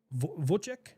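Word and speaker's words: Wojtek: Vochek. I I don't It starts with a W, but I think they pronounce with a V.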